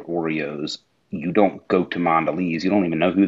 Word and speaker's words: Mondelez: It's pronounced Mondelez. Mondelez. It's French.